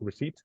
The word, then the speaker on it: receipt: Spanish it's another language so don't matter so receipt receipt so it's kind of like this the